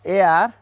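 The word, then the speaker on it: heir: Here H is silent, so I use N. An honest man, not honest man. An air, not here.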